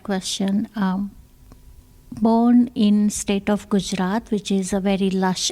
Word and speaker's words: Gujarat: Okay, so in the state of, and you'll have to help me with my pronunciations, is it Gujarat?